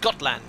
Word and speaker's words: Gotland: It's pronounced Gotland.